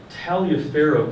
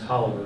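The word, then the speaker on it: Taliaferro: we're fine with that so talia farrow county but it's actually pronounced hollower go figure there's a probable undescribed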